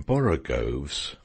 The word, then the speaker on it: borogoves: rhyme with groves again the first o in borogoves is pronounced like the o in borrow i have heard people